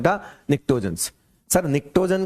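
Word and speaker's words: pnictogens: फिर आता है ये पी साइलेंट है, निक्टोजेंस।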